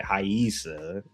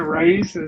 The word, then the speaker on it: Raisa: I I've been told yes, Raisa, but I've been told you're supposed to pronounce it Haisa. Oh, okay. Well, apologies to the Brazilian people. Yeah, I've been calling it Raisa, so I'm like, I